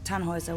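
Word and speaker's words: Tannhauser: what's your name tanhauser we'd pronounce it tanhoisa with an umlaut German roots yes my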